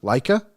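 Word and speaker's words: Laich: Leica.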